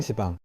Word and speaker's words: 시방: 10방을 빨리 발음하면 10방. 10방. 10방. 시방. 그래서 시방. 아, 시방.